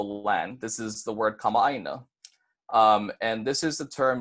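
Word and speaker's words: kamaʻāina: Keep in mind the okina that's breaking the two a's in the middle of the word. So instead of saying kamaina, it's going to be kama'aina.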